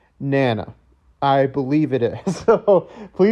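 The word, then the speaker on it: Nanna: I researched it a couple of times, and I believe it is pronounced Nana.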